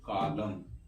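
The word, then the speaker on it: column: भी देख लेते है न साइट यानी की य सीओ एल यू एम एन इसको हम पढ़ेंगे कॉलम य पर क्या साइलेंट इसे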